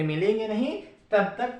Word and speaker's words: ण: इसे अणा भी कहते हैं, लेकिन इसका शुद्ध उच्चारण होगा न।